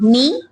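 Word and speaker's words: knee: है वो साइलेंट है नी नी के एन डबल ई नी लिखा भी हुआ है बोर्ड पर देखें आप नी की स्पेल लिखी हुई है के एन डबल ई नी उसमें कौन सा लेटर साइलेंट है के के वेरी गुड अच्छा साइन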